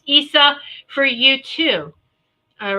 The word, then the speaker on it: Isa: say Isa but it's it's Isa but it's Issa that's how it's pronounced Issa for you too all right it's uh sometimes